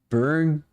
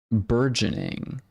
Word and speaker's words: burgeoning: Burging. What? I've never heard of this word before, dude. Never heard of this word. Berg. It's like burger except different. Berg yanning. Yanning. Burgeoning is how it's pronounced.